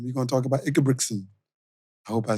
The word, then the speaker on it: Ingebrigtsen: We're going to talk about Ingebrigtsen.